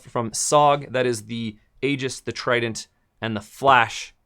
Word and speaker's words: Aegis: We have the Aegis, uh, or the Aegis. I'm not quite sure how to pronounce it. So, AEG GIS, I think it's Aegis.